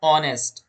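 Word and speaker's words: honest: Correct pronunciation है इसका। ऑनेस्ट ऑनेस्ट कैसे? ऑनेस्ट ये वाला। यानी एच को बिल्कुल साइलेंट कर देंगे।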